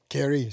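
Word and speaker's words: Carey: avec le plus frappant c'est william carrés au kerry si on le prononce l anglaise qui était le père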